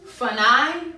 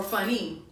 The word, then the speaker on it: funny: sound makes un, and at the end of the word, most of the times, the Y sound makes I or E. So sometimes your son or daughter may say funi or funny. Let them say it wrong. So if they see it and say it wrong, they'll say, well, that can't be funi. It has to be funny.